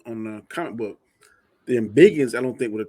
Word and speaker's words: Embiggen: the Bigums was more Embiggen. I'm sorry. You keep saying it like if you just said like Anzo just called her Proton. I let that slide, but you keep saying it wrong. She Embiggins.